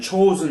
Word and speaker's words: Chosin: And Chosen is a Japanese pronunciation.